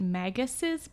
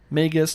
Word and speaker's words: Magus: here yeah yeah and I think I'm actually mispronouncing it I think it's supposed to be the ancient megasis bride but that is awkward as all hell Magus like mage wizard yes like like mage